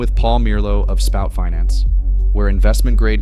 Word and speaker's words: Mierlo: So your last name is Mierlo or Merlo? How do I pronounce it? Mierlo.